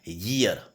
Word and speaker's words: year: तो आपको ध्यान रखना है YEAR इसका प्रोनाउंसिएशन होता है ईयर, ये से शुरू होता है और ये से शुरू होता है, इसलिए हम यहाँ पर आर्टिकल ए का यूज़ करते हैं।